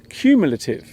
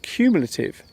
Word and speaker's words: cumulative: The word is cumulative. The first syllable of this word sounds like the letter Q. The word cumulative is an adjective and